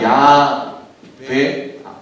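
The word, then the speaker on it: Yahweh: 원래 발음으로 하면 야훼 혹은 야훼가 어느 정도 조금 그 원문에 가까운 그런 발음이라고 할 수 있고요.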